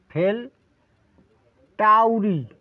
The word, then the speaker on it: Fel Tauri: টি এ ইউ আর আই এই উচ্চারণটা বাংলা উচ্চারণটা লিখে দিই ফেল ফেল করা আর কি পরীক্ষায় ফেল করা ফেল টাউরি টাউরি দেখুন কত সুন্দর নাম এই রেমিডিটির নাম